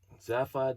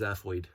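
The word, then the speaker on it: Zaphod: B rocks deep cut zapod bble rocks and when I was a kid I thought it was pronounced zafo I don't know why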